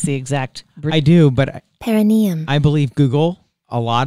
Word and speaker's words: perineum: First, I'm going to ask, have you ever heard of, I think you say it, perineum sunning? Perineum? Perineum? I don't perineum know. Perineum sunning. How do you spell it?